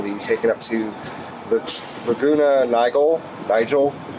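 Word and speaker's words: Laguna Niguel: taken up to the laguna nigal nigel it looks like laguna nigel but it they're i'm pronouncing it wrong so anyways probably laguna nigal anyways i was told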